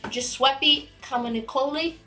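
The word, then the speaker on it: Giuseppe Camuncoli: A covers done by Giuseppe Comunicoli. I think that is how you say his name. You nailed it.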